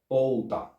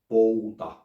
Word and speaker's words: pouta: One of them is a back vowel diphthong, pouta, while the other one is a front vowel diphthong, pöytä. And the more specifically you pronounce it in the back or in the front, the more unambiguous you